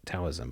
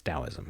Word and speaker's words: Taoism: I know it's spelled with T and people might think it's Taoism, but it's Taoism, okay?